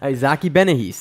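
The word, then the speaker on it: Bahiense: Isaac II been ahis but Zaki Beninese that's how it's pronounced 85 kilograms at yes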